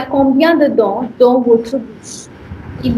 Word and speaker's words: bouche: And this is bouche because OU is O and CH is sh. It becomes bouche.